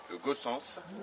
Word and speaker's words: Gaussens: Poivre, là, je suis en compagnie de Gossens, c'est comme ça qu'on prononce ouais. Gossens, ça plutôt.